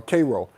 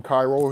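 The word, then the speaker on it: Kairo: Uh you'll like my character um Cairo or Cro. I call him Cro, but some people going to call him Cairo.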